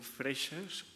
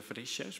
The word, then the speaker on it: Freixas: Y Ramon Freixas, ¿lo pronuncio bien? Sí. En catalán sería Freixas, pero sí, soy valenciano.